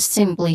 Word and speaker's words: simply: I'm going to focus on the word simply here, pronunciation wise. The stressed syllable is first syllable, sim, which has a short E sound, and then pli, the second syllable, has a long E sound.